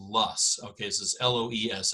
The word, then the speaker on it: loess: up over time and this soil is called Loess okay so this ello es s it's not low s or lows its lusts that is how it's pronounced but you see it in these westerly